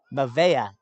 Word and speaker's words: Mavea: to the eight man mayava desmond i apologize i feel like i've been pronouncing your last name differently every time mavea is how it's pronounced uh that ball was